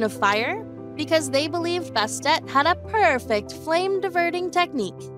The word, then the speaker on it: Bastet: Later, she became Bastet to emphasize the pronunciation of the T in her name.